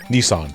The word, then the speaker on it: Nissan: Oh, that's how they pronounce it in America? Nissan? Nissan, yes. Yeah. Yeah, Here it's it's Nissan. just, yeah, here it's just Nissan.